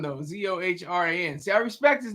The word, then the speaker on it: Zohran: I think Zoran though. Zohran.